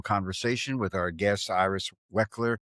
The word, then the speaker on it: Waichler: relevant, and meaningful conversation with our guest, Iris Waichler. It's Waichler.